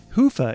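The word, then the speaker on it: Hyvä: Commerce is sponsored by hia or as the Europeans say hoofa or the right way to say it hoofa is rapidly becoming the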